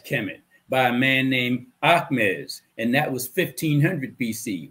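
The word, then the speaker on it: Ahmes: in egypt slash kemet by a man named ahmez and that was 1500 bc what algebra came out of africa damn right it did if you don't believe me research your brother by the name of ahmez his name is spelled a h m e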